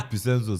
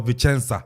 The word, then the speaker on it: Vicenza: Uko piem wo sa Picenzo sana kind of Picenzo.